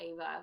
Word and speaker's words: Eva: If you go to the top, hit shop, and then go to, I think it's under more, and then Ava Love. It's spelled EVA. Ava Love.